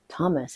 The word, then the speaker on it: Thomas: Well, Thomas is pronounced Thomas, well, in American English, but the TH sound does not exist in French.